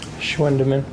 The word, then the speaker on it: Schwendiman: Schwendeman. Schwendeman? Mm-hmm. Is that hard for you to watch? That's spelled SCHWENDIMAN.